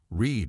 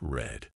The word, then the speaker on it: read: to keep things interesting read in the present is pronounced like read Reed in the present is pronounced like Reed but in the past it's red but in the past